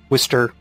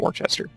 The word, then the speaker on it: Worcester: So you see Worcester, Worcester, if you don't actually know how to pronounce it. Like Worcestershire sauce. It's not Worcester.